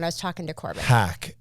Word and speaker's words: Hack: was talking to Corbin hack H as in hacking yeah as in hacking